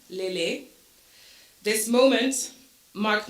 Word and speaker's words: Lehlé: me for years I accepted this mispronunciation of my name unaware of the profound importance of my name's true sound it wasn't up until my time in Canada um for University that I started to assert the pronun pronunciation of my name I Found the courage and the voice to reclaim my identity by asserting the correct pronunciations pronunciation Le this moment marked not